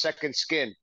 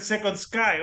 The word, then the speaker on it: Sekond Skyn: just to correct you a little bit it's pronounced Second Skin second sking oh I said second Sky oh my God yes it's all good though